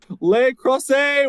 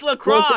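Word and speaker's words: La Crosse: all right March 16th lacrosse lay cross a Wisconsin I butchered that sorry it's lacrosse is this lacrosse okay like the sport um March 18th in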